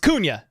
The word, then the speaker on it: Cunha: My last name is Cunha. Pronounced Cunha, not Hunt.